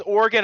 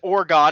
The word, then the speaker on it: Oregon: Everybody pronounces Oregon as Oregon and I 90% of the time just want to grab them and shake them and say, "Please never say that again or I will shake you hotter."